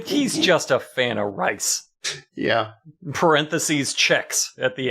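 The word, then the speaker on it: RRIICCEE: this band is pronounced it's all capitals r r i i c c e e rice like Tony the Tiger is that what you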